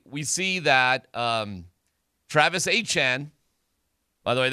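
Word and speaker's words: Etienne: Oh, by the way, we see that um Travis Achan, by the way, that's how you say his name. Not ATN, not ETN, it's Travis uh Achan.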